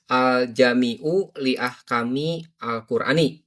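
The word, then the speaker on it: الجامع لأحكام القرآن: Ya, ee harusnya pengucapan bahasa Arabnya sudah benar ya. Aljamiu ini mubtada ya. ee sehingga di domah. Lalu ee al ah kami ini majrur ya karena didahului oleh ee lam dan alqurani ini mudf ilh sehingga memang majrur juga.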